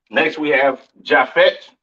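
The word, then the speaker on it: Japheth: right next we have jaffet all right or javet some people like to call it right um pronounce Yap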